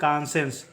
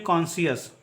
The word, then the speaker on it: conscious: ठीक है, और CONSCIOUS का उच्चारण करेंगे हम लोग कॉन्सेंस। इसका उच्चारण करेंगे कॉन्सेंस, ना कि कॉन्सियस। कॉन्सियस इसको नहीं पढ़ते, इसका उच्चारण होता है कॉन्सेंस।